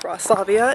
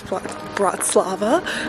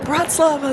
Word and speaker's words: Bratislava: Um, I've also realized I'm saying it wrong. It's not Bratavia. It is Bratz Slava. Um, but I'm correcting it now. But Bratz Lava, Slovakia.